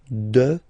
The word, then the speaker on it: dehors: Okay, so remember final S not pronounced, and then this H in French doesn't exist phonetically, so you don't pronounce it. Dehors.